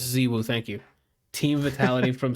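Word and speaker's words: ZywOo: I don't know how to pronounce that last one, bro. Right. Ziwu. Oh, it's Ziwu.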